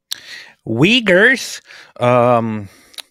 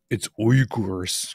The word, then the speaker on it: Uyghurs: Uyghurs? It's Uyghurs. Gotta say it properly. I'm gonna say Uyghurs, like every other American.